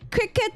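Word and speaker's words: Cricut: Cricket Isa is C R I C U T. Although pronunciation is cricket like uh that's why their logo is like that of a cricket like a a grasshopper.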